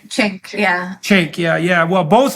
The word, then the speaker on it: Cenk: Cenk, yeah.